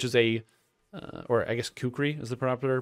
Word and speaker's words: kukri: this kukri which is a or i guess kukri is the proper pronunciation it's not too often used weapon however